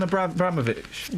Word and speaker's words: Abramovich: Roman Abraovic.